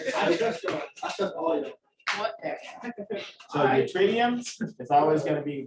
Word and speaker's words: yttrium: Yttrium? Can you repeat that one more time? How do you say the element name? The Y? It's yttrium.